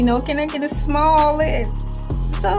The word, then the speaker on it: Smollett: Jussie Smollett, Smollett, like you're ordering a small frosty. You know, can I get a Smollett?